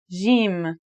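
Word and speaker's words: ج: in standard arabic and syrian arabic it should sound like the j in the word jam while in egyptian arabic it sounds like the g in the word game they're both quite easy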